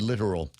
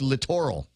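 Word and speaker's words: littoral: were giggling every time I said the word literal. Oh, because that's not how it's pronounced. Uh it's literal as in as in the shoreline.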